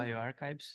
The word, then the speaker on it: bioRxiv: afiliado del servicio de preprints Bio, ¿cómo se pronuncia? bioRxiv.